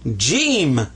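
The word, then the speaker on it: جيم: there his name is jeim so whenever you see ha but he's got this that's Jim and so this is the sound of an H this is a sound of a j j now watch this one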